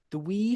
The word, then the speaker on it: Dewi: Am I pronouncing that? Dewi. Dewi. Okay.